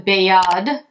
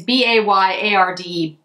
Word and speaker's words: Bayard: except for the quad the bayad it's as close as i can get to the front french pronunciation it's b-a-y-a-r-d bayard um and that is